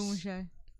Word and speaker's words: Bug Muncher: Boomushay. Oh yeah. Bug Muncher's how it's spelled. That's not actually what it is.